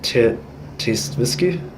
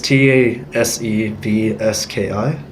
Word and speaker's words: Tasevski: Tasevsky? It's Tasevski.